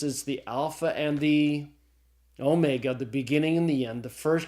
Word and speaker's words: omega: old class file so the Omega is pronounced as a long Oh sound as in the English word tone okay all right well